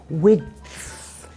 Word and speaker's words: width: Width. Is there a way to make it easier? Well, you could try saying with, without the D sound.